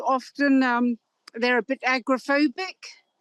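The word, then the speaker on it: agoraphobic: um they're a bit agrophobic. I think it's pronounced agorophobic in in the US um because they're not used to open spaces.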